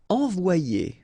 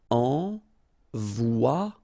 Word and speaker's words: envoyer: Okay, so it's quite interesting because you've got this Y here, alright? But then if you've got one vowel before, one vowel after, then it will change like if it would be E here, one, and then a second E here. So you get the sound O-I, so it's wa, and then you get the sound I and ER, it's ye. Envoyer.